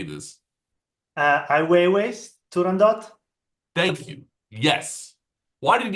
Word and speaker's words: Turandot: Or sorry, I'm sure I'm butchered the pronunciation. How do we say this? Weiwei, Turandot.